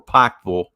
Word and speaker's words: Pikeville: about 15 miles outside of Pikeville, or Pikeville, to say it properly.